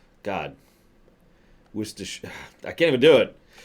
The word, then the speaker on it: Worcestershire: That's right, Worcestershire. God. Worcestershire. I can't even do it. There are multiple British names, usually proper names, that have plenty of letters in it that are not pronounced.